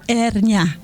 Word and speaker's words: hernia: po ba niyan e her niya o er ni silent h Oo okay alr now